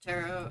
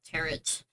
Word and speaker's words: tarot: They don't pronounce the T in tarot.